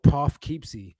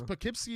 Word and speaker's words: Poughkeepsie: like the word the the town Poughkeepsie that's pronounced totally different totally different totally different like I would have said like Poff keepsie right right and it's not like that but the thing is